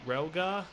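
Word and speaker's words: Rilgar: After this, we went to Relgar, that's how you say it, for the first hoverboard race of the game.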